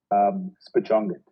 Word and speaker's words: SPIJØNGET: Okay, so it's pronounced SPIJØNGET, right?